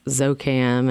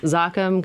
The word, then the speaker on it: Zoccam: do a whole marketing campaign around the just pronouncing the name because we get zouk am it sounds like a medical right it is ok I'm yep good for your allergies exactly exactly so zakhm comes from Occam's razor which is a scientific